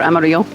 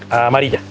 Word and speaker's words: Amaria: Amaria or Amario? Amaria. Kasa Amaria. I might have said it wrong at the beginning.